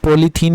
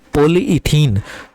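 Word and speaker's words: polyethene: Okay, पॉलीइथीन, जो आप पॉलीथीन यूज़ करते हो ना, बैग पॉलीथीन वगैरह सब्जी वगैरह लेके आते हो ना, वो एक्चुअल में अगर करेक्ट प्रोनाउंसिएशन उसका करोगे तो वो होता है पॉलीइथीन।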